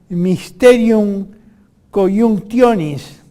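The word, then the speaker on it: Mysterium Coniunctionis: Carl Gustav Jung, y que en latín se pronuncia Mysterium Conjunctionis, la síntesis, que significa la síntesis de las psiquis opuestas.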